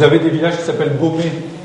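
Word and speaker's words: Beaume: Vous avez des villages qui s'appellent Baumé. Alors, Baumé, à côté d'Hirson, ça s'écrit B-E-A-U-M-E, mais ça s'est écrit Baumé avec TZ à une époque.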